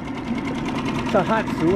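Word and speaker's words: Tohatsu: It's a 3.5 Tahatsu.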